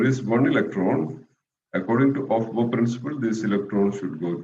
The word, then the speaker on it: Aufbau: It's actually pronounced as Aufbau. Aufbau, but we usually pronounce it as Aufbau principle, right?